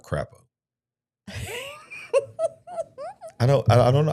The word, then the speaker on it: Crapo: don't want to say crapo. His name's got to be Cropo, right? Not crapo.